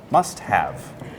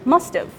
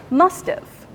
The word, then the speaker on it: must've: verb in those cases we don't usually pronounce the H abbreviating it too must've right so let's practice both versions first as a verb must have must have now as an auxiliary verb must've must've okay finally let's